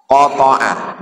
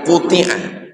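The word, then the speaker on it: قطع: Wa qata'a, bukan quti'a.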